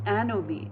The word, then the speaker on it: anomie: I mean he's creating a picture in my mind, and he's also creating a feeling of loneliness and anomie. Anomie is spelled A-N-O-M-I-E.